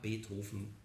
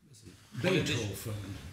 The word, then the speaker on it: Beethoven: Ja, Beethoven. Beethoven. So spricht man das. Genau, Beethoven. Oh, und dieses Fahn ist kein Adelstitel, sondern eine Herkunftsbezeichnung.